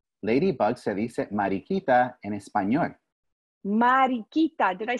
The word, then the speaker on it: mariquita: Mientras caminaba, vi una mariquita. Ladybug se dice mariquita en español.